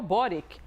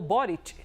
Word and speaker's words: Boric: É o presidente chileno Gabriel Boric ou Borit, a depender das pronúncias.